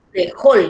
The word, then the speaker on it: frejol: Frejol, yo digo frejol, por lo tanto, en la última sílaba está la mayor fuerza de voz.